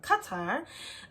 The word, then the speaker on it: Qatar: I was in Qatar cuz that's how they pronounced it I thought it was Qatar but it's Qatar uh they didn't bother me in Rwanda they